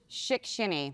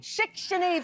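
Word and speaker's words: Shickshinny: a small town in pennsylvania how do you pronounce it shikshini shikshini pennsylvania yeah i'm originally from a town called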